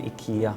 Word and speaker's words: Ikea: In Sweden, the Swedish pronunciation Ikea.